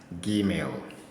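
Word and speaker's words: ג: whether this or that it is pronounced as Gmail Gmail G sound G sound then we have D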